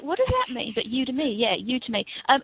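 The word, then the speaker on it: Udemy: oh you to me me yeah it is pronounced UD me yeah I thought it was UD Demi but it's I was like what does that mean but UD to me yeah UD to me um yeah it's a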